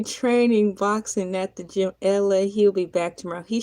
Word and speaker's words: Elay: I'm LA, pronounced like LA like the city.